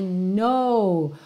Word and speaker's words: know: no não então embora ele tenha esse k no começo n o w o k não é pronunciado e ele não vai